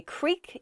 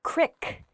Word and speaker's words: creek: vary by region creek i say creek you might hear the word crick qrik and the word creek means a small river essentially uh there's a